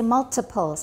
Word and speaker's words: multiples: Okay, we say multiples, not multiples, multiples. There's a consonant before the T, so it's not a tap, multiples.